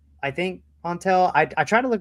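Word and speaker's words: Antal: Um anyway, it said to put the emphasis on on an so onel.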